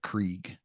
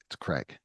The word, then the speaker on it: Kraig: It's KRAIG. or as Matt would say it, Krieg. And I always go, it's Craig.